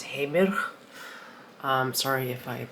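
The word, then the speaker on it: Heimir: Okay, I specifically went to a website that tells you how to pronounce it in Icelandic, and it's Heimer.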